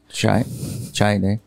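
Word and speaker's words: Chiat Day: Chai Day.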